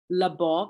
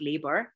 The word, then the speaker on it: Labov: Another project that happened in dialectology with the American Dialect Society is called as a telephone survey project, and this should be William Labov and not Labor.